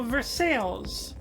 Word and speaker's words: Versailles: anyone else pronounces them, like Versailles, Kentucky. I'm sorry, what? You know, Versailles, like the French Museum. That's how they pronounce the city in Kentucky called Versailles.